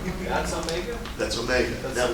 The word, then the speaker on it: omega: If you read it, you should read it as omega, if you're pronouncing it in English.